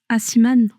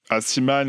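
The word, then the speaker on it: Aciman: Comment ça se prononce? Asiman. Asiman, ouais, le mec de Call Me By Your Name.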